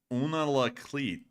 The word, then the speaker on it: Unalakleet: How do you spell it? Una, UNALAKLEET.